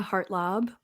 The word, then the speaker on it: Hartlaub: and it's just my name so it's heart lob and I can't spell it I guess because it's a long name